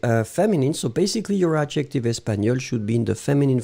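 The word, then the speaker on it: espagnole: So espagnol with a final E. You pronounce them the same way, still you should write it properly.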